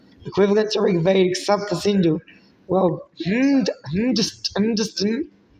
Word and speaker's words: Hindustan: Well, Hindustan pronounced Hindustan is found in Sanian inscription from the 3rd century CE.